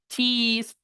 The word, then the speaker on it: cheese: Y la doble E es la I larga. Y usted tiene que sonreír sí o sí para decir queso. No se puede decir queso sin sonreír.